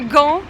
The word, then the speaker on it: Gand: Bon, nous quittons Gand, ou Gand, ou Ghent, c'est suivant les prononciations, on a un peu tout entendu ici.